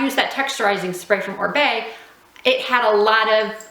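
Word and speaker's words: Oribe: orb o r i b e but it's pronounced orb that texturizing spray is amazing it gives a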